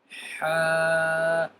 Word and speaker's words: ح: Ha. Ha. The alphabet Ha will be pronounced from the middle of your throat.